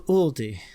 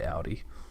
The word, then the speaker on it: Aldi: it's out there our doors here we go pronunciation welcome to Aldi all these nuts huh got him funny right